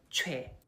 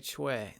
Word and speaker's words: Choi: But Choi. Sounds like Choi. The oi is pronounced like the we in we. Choi.